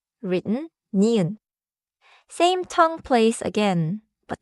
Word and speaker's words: 니은: Third sound, nieun. Written nieun.